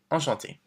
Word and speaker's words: Enchanté: And don't forget, if you're a woman, we add the extra E, but it's the same pronunciation. Enchanté.